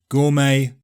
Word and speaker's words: gourmet: Silent T With so many different pronunciations flying around, it's easy to forget that sometimes we simply don't say the t: GOURMET CASTLE LISTEN And it's optional in OFTEN, yeah people often drop the T there.